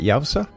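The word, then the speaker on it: YOWUSA: Yao, how do you pronounce that? Yaoza.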